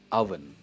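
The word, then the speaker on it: oven: हम इसे ओवन नहीं कहते, इसकी प्रोनाउंसिएशन है अवन।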